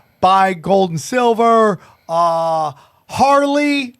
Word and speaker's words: Harley: gold and silver uh Harley not Haley I've been told I've been saying it wrong Harley Harley Ray crystals and then our